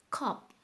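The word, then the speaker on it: 컵: is cup same length English premium pronunciation is a little different okay that is cool oh okay cop cop you will say club no it's sound closer to P sound cup okay dito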